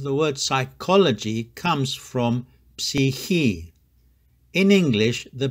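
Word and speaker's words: ψυχή: If there's a native speaker near you, please don't pronounce it like the Erasmian way, which is psuke. He or she won't understand what you are saying. The proper pronunciation is psihi.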